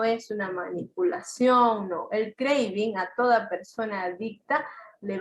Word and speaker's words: craving: Se escribe craving, pero se pronuncia craving.